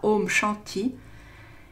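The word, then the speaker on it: Om Shanti: lumière éveillé alors le home shanty le mantra home shanty signifie paix et se prononce comme home comme le précédent et chante i comme jeanne t-il voilà donc sur internet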